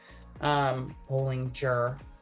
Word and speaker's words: Bollinger: Bollinger. Okay. I have a hard time remembering that her G it's a hard G, right? Not a soft G.